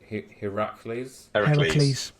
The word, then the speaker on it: Heracles: um and he uses project Heracles Heracles yeah God of strength Hercules it's the Greek pronunciation of Hercules Bobby yeah he uses